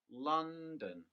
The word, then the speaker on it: London: have one stressed syllable using the example london the stress is on the first syllable listen london with the word machine